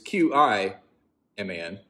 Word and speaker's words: Keemun: And I've been pronouncing that correctly, but I've been pronouncing Cheeman wrong. One of the westernizations of it is Keemun. And so I've been saying Keeman. But another spelling of it is Qiman. Qi being chi, a spelling of chi, the Eastern idea of, life force energy.